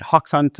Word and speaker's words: Hoxhunt: Could we start by just getting a little bit about your background, your current role at Hawk Hunt? I guess I'm pronouncing that right.